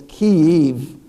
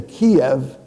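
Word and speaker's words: Kyiv: and you'll notice it's key eve is really the key is the proper pronunciation which is ukrainian if you say kiev you're speaking russian so you don't say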